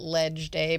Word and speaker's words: leg day: Realtors legislative day or we we call it ledge day but when you put it in writing it looks like leg day because of the way legislative is spelled.